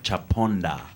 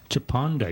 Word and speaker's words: Chaponda: I know Daliso, how do you pronounce his name? Chaponda. Chaponda, your opening act.